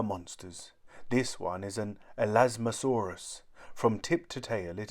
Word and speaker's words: Elasmosaurus: like flat plates how do you say it elasmosaurus say el asmasaurus in the air flying is a great help